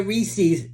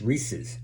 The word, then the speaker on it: Reese's: So anybody saying, I would like a Ree-sees, correct them. Say, excuse me, it's Reese's.